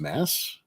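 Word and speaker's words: Maas: right right and and there is another German spelling for uh that name which is m-a-a-s and I think they pronounce it just Mass uh something along those lines so yeah yeah it's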